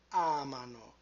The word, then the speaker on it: amano: Pay attention to the position of the stress with loro. Noi amiamo, voi amate, and then loro amano. So we move the stress to the left by one syllable.